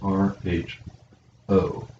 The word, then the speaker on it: rho: lowercase is this the uppercase is this it's pronounced r h o rho that's going to be one of our